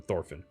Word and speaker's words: Thorfinn: And that letter is pronounced TH. I know. I'm going to call him Dorphin rather than Thorfinn.